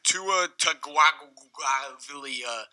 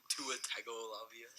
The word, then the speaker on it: Tagovailoa: that's like saying, Tua Tagovailoa What had like just came out of his 3,000 mouth?